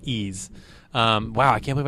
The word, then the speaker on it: Ys: Uh Ease 7. Um Oh, and Ease is YS. YS. Yeah, a lot of people called it Wise, but it's pronounced Ease.